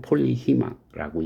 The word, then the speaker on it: PHEMA: 여러 용도로 많이 사용돼서 폴리헤마, 뭐 영어 발음은 폴리히마라고 얘기하는데 PHEMA 이렇게 부르지 않고 폴리히마라고 부른다라는 것만 참고로 합시다.